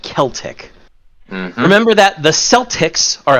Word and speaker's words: Celtic: your C and K's the C Sound used in foreign words in this game in almost every instance is pronounced as a hard c a k sound this is especially important for these words kimri is pronounced kimri and Celtic is pronounced Celtic remember that the Celtics